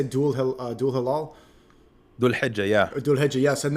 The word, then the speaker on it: Dhul Hijjah: There were strikes at the pronunciation. How do you say Dul Hilal? Dhul Hijjah, yeah.